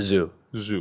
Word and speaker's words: ZHU: people call him Zoo zuu what's the right pronunciation zoo zoo yeah okay so you meet Stephen uh and